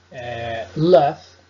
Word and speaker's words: laugh: Nela, você tem que pronunciar o GH como se fosse um F. Laugh, tough, enough, cough. Essas palavras você vai pronunciar como F, fica assim até um